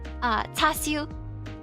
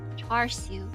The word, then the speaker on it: char siu: How do I say it like in English? Tasyu? Nope. Char siu? Char siu. Yeah, there's an R. Sometimes there's an R in there.